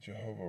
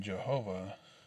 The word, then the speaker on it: Jehovah: a uh yeah so the last vowel in jehovah is the vowel point kemetz pronounced a not e in ad212 clement had va